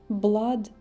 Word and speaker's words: blood: pressure высокая кровеносное давление блад читается не по правилам Blood это кровь fresher давление а